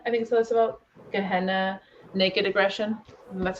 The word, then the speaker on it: Gehenna: Gehenna, Naked Aggression.